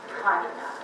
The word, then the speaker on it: Panina: So first of all, people often ask, well, how did you become interested in Countess Sofia Vladimirovna Panina? The accent is on the first syllable, Panina.